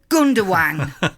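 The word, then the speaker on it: Gündoğan: Gundogan is spelt with a G, but the G is silent, so it's pronounced Gundogan.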